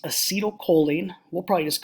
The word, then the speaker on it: acetylcholine: first four or five this one here is pronounced acetylcholine we'll probably just call it ach um the